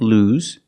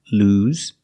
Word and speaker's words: lose: lost in the present lose use the long u sound like food and moon lose and yes it's pronounced with the z sound like zebra lose lose track of time